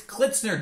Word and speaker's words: Klitzner: unpronouncable how do you how do you say your last name it's kitner D what dner